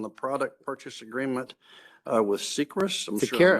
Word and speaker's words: Seqirus: Let's move to the third amendment on the product purchase agreement with Seqirus. I'm sure I'm not Seqirus. pronouncing that right. Yes. Seqirus? Listen to the CFO pronounce it. So Seqirus.